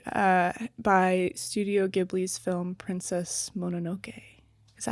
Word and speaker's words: Mononoke: But it was also inspired by Studio Ghibli's film Princess Mononoke. Is that how you say it? Mononoke?